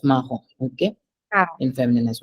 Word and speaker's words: marron: Brun, brun, marron, marron. brun, Oui. brune, Brun, oui. Then marron, marron, oui. marron, Yes. We don't say marron. No, we don't say that. It's marron.